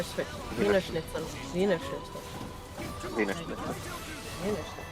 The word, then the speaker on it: Wiener Schnitzel: You gotta get the Wiener Schnitzel. Wiener Schnitzel. Wiener Schnitzel. Wiener Schnitzel. Wiener Schnitzel. It's not Wiener Schnitzel, it's Wiener Schnitzel.